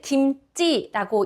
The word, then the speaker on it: 김치: 태국분들은 김치를 김지라고 읽습니다. 김지. 어, 쌍지으로 표현을 합니다. 김지. 사랑합니다는 락이죠. 어떻게 하셨죠? 콘타이라 김지 제가 김치라고 적었지만 태국분들은 김지라고 읽으십니다. 콘타이라 김지.